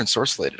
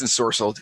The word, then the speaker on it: ensorcelled: Is it ensorcelled or ensorcellated? I don't even know now. It's. I don't. It's ensorcelled. Yeah, I said it wrong. It's ensorcelled.